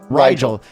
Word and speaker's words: Rigel: I mispronounced it. Rigel.